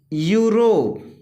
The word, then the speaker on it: Europe: जब किसी वर्ड में ई के बाद यू आए तो ई का उच्चारण यू होता है। इसका एग्जाम्पल देख लीजिए, जैसे कि यूरोप, EUROPE, यूरोप।